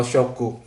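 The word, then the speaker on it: 食: Bacanya taberu atau shoku.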